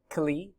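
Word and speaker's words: כלי: It can be used as a weapon, like in war, and it's pronounced kli, or the plural kelim.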